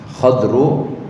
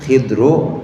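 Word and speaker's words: خضر: Kalau ini k d ra dibacanya bisa tiga macam. bisa khadru atau khidru atau khodiru donnya kasrah.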